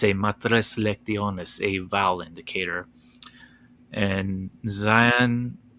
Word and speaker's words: matres lectiones: no sorry uh sorry he mispronounced it as uh madres anos lunas like spanish yeah oh gosh